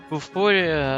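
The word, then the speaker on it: Bofuri: I was watching Bufuri, I think is the name. Oh, cool. Yeah, both. That's how you say it? Yes, good.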